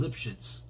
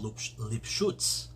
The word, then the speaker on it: Lipschutz: So getting back to Rabbi Yisrael Lipschitz, or pronounced as Rabbi Yisrael Lipschutz, so he ruled, during smallpox, he ruled that